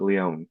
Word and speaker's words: Lion: last name, even though it sounds like Leon, Hmm.